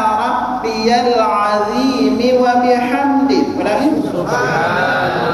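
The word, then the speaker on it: سبحان: Itu kalimat-kalimatnya pertama subhana, coba ikuti subhana. Nah, di sini hanya dipanjangkan subhana, subhana.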